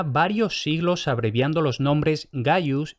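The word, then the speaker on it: Gaius: sin abreviar habían sido Gayus y Gnaeus, escritos con G y siempre pronunciado con G. Es decir, simple y llanamente, la primera consonante nunca se pronunció como K.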